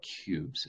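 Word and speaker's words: Qubes: um there's there's an operating system called cubes it's spelled with a q-q-u-b-e-s um Edward Snowden recommended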